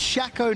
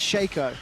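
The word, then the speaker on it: Shaco: get them down it's it's pronounced shako not Sho that's how I read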